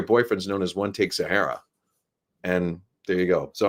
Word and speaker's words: Zahara: But yeah, like in Zahara depends what region you come from, where you say it. I believe it's actually pronounced Zahara.